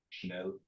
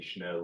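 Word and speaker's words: schnell: Chanel. Like you would say Chanel like means hurry.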